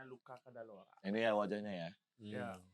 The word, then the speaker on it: Luca Cadalora: Luca Cadalora, dibacanya Luca Cadalora.